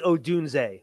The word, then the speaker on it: Odunze: It is Odunze.